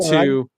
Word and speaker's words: Jawer: Jeff Yeah, yeah, Jower, he pronounced it he went Jower.